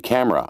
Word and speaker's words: camera: 카메라라고 하지 마시고 이제 발음이 camera 이렇게 앞에 있어요. 그러니까 소리 내서 공부하는 게 되게 도움이 돼요. 글씨는. 카메라가 아니라 다 같이 뭐라고요? camera 그렇게 하셔야겠죠.